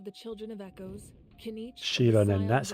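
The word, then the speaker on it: Xilonen: Currently, Shilonen of the Children of Echoes, Kinich, Shilonen, that's how you say it.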